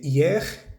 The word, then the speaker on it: hier: decir ayer se dice se pronuncia bien la r vale Esto no es